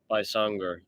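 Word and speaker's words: Baysangur: Bysanger. It's funny. I saw it spelled with a Y instead of an I, like Baysanger, but pronounced Bysanger.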